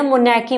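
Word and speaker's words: monarchy: मोनैकी बोलते हैं। ठीक है? मोनैकी बोलते हैं। आर साइलेंट होता है इसमें।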